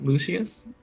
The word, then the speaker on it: Lucius: don't actually call him lusious for the rest of the campaign I won't be able to take him seriously lusious is an awesome name I love it I think it's pronounced Lucius yes Lucius funny but yes those